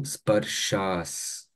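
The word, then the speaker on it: sparśāḥ: And on top of S, you have a small accent here, right? That become sh. So sparshas. So that is how matra sparshas. So that is how you pronounce.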